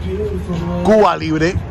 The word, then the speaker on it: Cuba Libre: I think it's called Cuba Libre. Or if you want me to pronounce it more accurate, Cuba Libre.